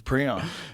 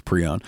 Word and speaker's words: prion: he's like we'll call it this and we'll pronounce it this way okay so it's preon it's now I'm now I'm trying to I always try to remember which one it is and it's uh yeah it's pre-own it's scary dude it's scary and and Doug